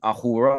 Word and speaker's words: Ahura: They worship Ahura Mazda. I mean, that's Well, obviously if Asura. yeah, if that S is silent in the old language, which it is at times, it is Ahura.